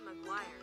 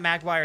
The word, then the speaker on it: Maguire: Toby Maguire. Oh, Magguire. Toby Magguire. Okay, it's not Magguire, it's Maguire.